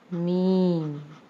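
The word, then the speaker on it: میم: Meme. Meme has the pronunciation of meme and it has the sound like M.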